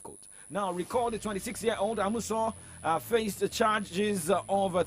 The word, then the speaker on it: Amusan: Toby Amusan's name wrongly because she's Toby Amusan, not Toby Amazon.